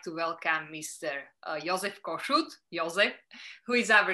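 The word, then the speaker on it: József: My name is Jozsef Kossuth, and your pronunciation was very good because the Jozsef in Hungarian is Jozsef.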